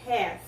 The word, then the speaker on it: half: É comum usar esta outra palavrinha aqui que é have. Have. A letrinha L você não pronuncia.